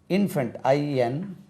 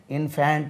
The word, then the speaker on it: infant: இன்ஃபென்ட், INFANT இன்ஃபேண்ட் இல்லை, இன்ஃபென்ட்.